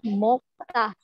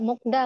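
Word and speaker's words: 먹다: Yang terakhir ada mokta, bacanya mokta. Kenapa bacanya nggak mokda, Kak? Itu justru udah aturan bacimnya ya. Bacanya jadi mokta, bukan mokta.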